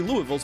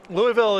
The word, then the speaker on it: Louisville: i'm gonna be there louisville is a good way to sound like a tourist when you roll into town louisville there you go